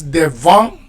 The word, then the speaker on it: devons: numéro 3, number 3, you can make the liaison, right? Because devons, nous devons, you don't pronounce the S. But if you want to make the liaison, and this is usually how it is spoken, you would usually make that liaison.